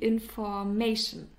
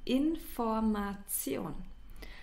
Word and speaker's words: Information: the information the information and please uh take care of the pronunciation because many English speakers uh pronounce it in an English way and say the information that's not it's the information and the other example